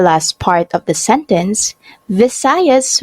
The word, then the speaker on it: Visayas: part of the sentence visayas was mispronounced as bisayas luzon is the largest